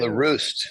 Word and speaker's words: LaRue: LaRue. Okay. LaRue, like LaRue is on fire. Oh, there we go. LaRue. Yes. LaRue is on fire. That's how you can remember it.